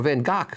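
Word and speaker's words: Van Gogh: you know anything about Picasso well Pollock or van gock which is actually the way you pronounce me and goes name do you know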